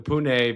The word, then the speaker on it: Pune: I got a I got quite a few followers in Pune.